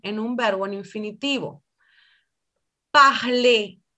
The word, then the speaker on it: parler: Parler. En infinitivo pronuncio la E.